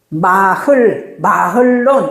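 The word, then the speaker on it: מחלון: 마흘론, 이렇게 돼. 마론이에요, 마흘론이 왜냐면은, 왜 마론이냐 하면은, 해의 밑에 이 쉐바가 지금 발음을 안 한다 했잖아요. 그러니까, 원래 읽으려면 마흘론, 이렇게 해야 돼요.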